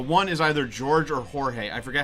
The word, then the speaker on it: Jorge: And I can see the names written in my head, and the one is either George or Jorge.